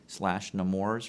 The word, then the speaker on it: Nemours: Hospital for Children / Nemours rhymes with s'mores and I'm the chief